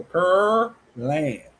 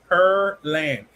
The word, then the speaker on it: Pearland: She said per. See the per pear land. Per p p per p per p per. I guess I'm saying it right. I don't know. Per because I don't eat pears. So per land. That's what it is.